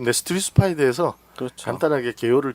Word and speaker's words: 네스토리우스: 발음을 정확히 하면 네스토리우스. 네스토리우스.